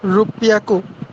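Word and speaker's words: ろっぴゃく: রুপিয়াকু ইয়েস, রোজ। আমরা রুপিয়াকু 300 কে বলছিলাম বিয়া, আর 600 কে বলবো রোপিয়া। মানে দ্বিত্ব উচ্চারণ হবে, দ্বিত্ব উচ্চারণ।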